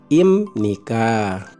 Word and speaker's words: 입니까: digunakan adalah ini dibaca imnika jadi dalam aturan membaca jika konsumen akhir B Hai bertemu dengan niion maka huruf Yap itu berubah cara pelafalannya seperti huruf M jadi hypnic adipraja imnika